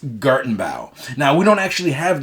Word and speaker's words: Gartenbau: that how you pronounce it? Give me that. Gartenbau? It's Gartenbau.